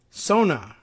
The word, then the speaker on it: Sona: Sona, that's S-O-N-A, no punctuation that lets me think it's pronounced otherwise.